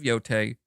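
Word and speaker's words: Yōtei: I was saying Thai. I don't know why I don't know. It looks like it should be pronounced Thai, but Tay. No, Tay. T-E-I. Tay.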